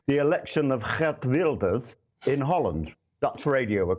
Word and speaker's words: Geert Wilders: Hence, and I hope you're going to be impressed with the correct pronunciation, the election of Geert Wilders in Holland.